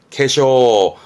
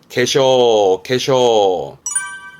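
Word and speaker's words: 化粧: 근데 발음이요. 캐쇼입니다. 이때는 캐로 가야 됩니다. 캐쇼. 지금까지 몽땅 카로 하다가 이때만큼은 강조하는 게 캐쇼예요. 발음은 캐쇼.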